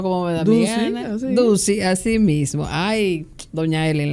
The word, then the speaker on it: Ducy: Yo siempre lo he pronunciado como me da mi gana. Ducey, así mismo.